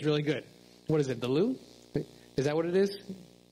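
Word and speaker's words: Louvre: I've heard it's really good what is it the loo is that what it is yeah that's how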